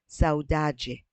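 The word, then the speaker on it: saudade: Matthew Wong's favorite word is a Portuguese tomb pronounced saudaji and it means nostalgic or profound longing for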